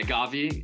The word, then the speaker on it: Gavi: first of all how do you pronounce your full name because on your instagram it's is it gavi yeah gavi yeah gavi off my full name's actually